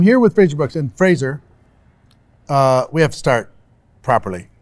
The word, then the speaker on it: Frazer: every time Fraser yeah all the Americans say Frasier Frasier yep yeah we cuz it sounds weird here yeah yeah I pay attention because how it's spelled the details is you know what I ER in your name right its freezer it's like the razor razor freezer no every time on